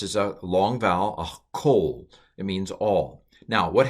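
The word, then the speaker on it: כֹּל: This is the word for all, kol. That's a hardening qamats, hardening dagesh, because it's in the beginning of a word. This is a long vowel, a kol.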